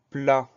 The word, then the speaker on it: plat: Et à la fin du mot, on a une lettre muette, c'est le T.